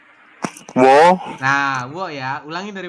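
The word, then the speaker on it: ㅝ: Ini kan U dengan O, maka dibaca wo, nah, wo ya.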